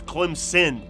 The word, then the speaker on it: Clemson: but i love the the southerners love to put the z for clemson and northerners will tell you there's no z it's clem's sin okay did i say